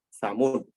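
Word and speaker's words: ثمود: Transliterasinya TSA, tapi jangan dibaca sa atau dibaca samud.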